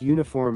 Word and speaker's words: uniform: Because uniform is pronounced uniform.